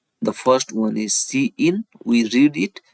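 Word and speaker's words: cin: yes it contains the Declaration for C in C out statement it is pronounced as C in it is pronounced as see out so now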